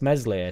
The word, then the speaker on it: Meslier: meslier we need to replace meslier silent S as much as we